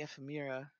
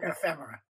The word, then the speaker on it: ephemera: a set called the F Amira space I think that's F Amira space right it doesn't correct me if I'm wrong it's beautiful ephemera ephemera thank you I never pronounce it right Edison is a very